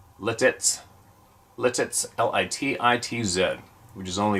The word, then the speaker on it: Lititz: Lebanon County I live in a town called letez pronounced letez Lititz l-i-t-i-t-z which is only about a 20